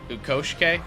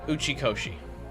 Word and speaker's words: Uchikoshi: Ukoshike? I fucking constantly mispronounce his name.